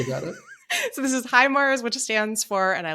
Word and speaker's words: HIMARS: It's HIMARS. HIMARS. Okay. It just gets funnier and funnier the more I think about it. So this is HIMARS, which stands for, and I looked this up, High Mobility Advanced Rocket System.